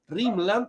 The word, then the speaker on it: rimland: un sentido bien ancho A eso le llama rimland rimland que se escribe así en inglés tal como suena en castellano Y de esa manera